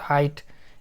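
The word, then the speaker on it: height: कुछ नहीं पढ़ रहे, जी एच यहाँ पे कुछ नहीं पढ़ा रहा, और टी को टा पढ़े, तो हाइट, इस तरह से हाइट पढ़ाएगा।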